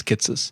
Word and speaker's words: Kitces: I think it's Kitces. That's how he pronounces it.